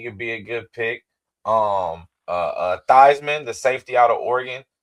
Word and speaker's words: Theismann: And I don't know if he related to Joe Theismann or is it Thiesman? Thiesman. I get think the it was Thiesman, but he changed it to Theismann and rhymes with Heisman.